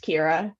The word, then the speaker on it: Kyra: are here we have Kyra and Jackson Hawkins they're both Rising 2ls I believe oh Kyra are you a rising 3-0 yeah and my name's actually pronounced Kira I'm sorry so Kyra